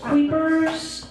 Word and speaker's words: Kuypers: I've gotten Kuypers, Kuypers, Kuypers, and like it's Kuypers, rhymes with hyper.